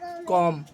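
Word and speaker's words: comb: Please give me your कॉम्ब, ऐसे नहीं करना है, सोचे बोला है कि please give me your कॉम, है ना, तो यहाँ पे बी साइलेंट हो जाएगा।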